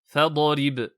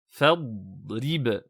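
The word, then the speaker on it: فاضرب: Par exemple, on ne prononce pas fadarib, fadarib. Non, mais plutôt fadrib, fadrib.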